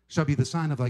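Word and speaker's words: τί: We want to know specifically exactly when these things will come to pass.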